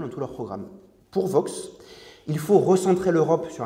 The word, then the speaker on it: Vox: Le premier de ces points fondamentaux, c'est la percée d'une droite radicale, d'une extrême droite, incarnée aujourd'hui par le parti Vox, à prononcer à l'espagnol, qui est classé, à tort ou à raison, comme un parti europhobe ou eurocritique.